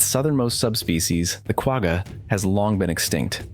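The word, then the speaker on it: quagga: its southernmost subspecies the qua has long been extinct the qu's name pronounced quaha comes from the koi koi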